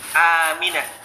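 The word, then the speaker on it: آمنة: Aminah itu panjang alifnya. Aminah. Yang itu ada tanda madnya.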